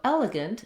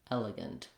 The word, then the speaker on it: elegant: So elegant, exact same pattern as elephant, except that we have the g sound. And again, we have first E saying eh, second E saying and the A saying or no vowel, gunt, elegant.